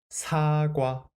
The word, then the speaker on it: 사과: 사과, 사과. And how about this word? Can you read it? Great. First syllable, place order with a sound vowel.